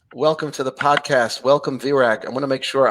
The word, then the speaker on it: Virag: Welcome, Virag. I want to make sure I'm pronouncing your name correctly. Did I say it right? You really nailed it. Yes, Virag.